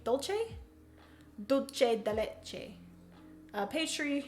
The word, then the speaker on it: Dolce: bean is fantastic Jeremiah I believe it's pers are pronounced Dole Che Dolce dulce de leche a